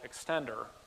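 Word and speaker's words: eCSStender: created a product called extender that's how you pronounce ECS estándares extender where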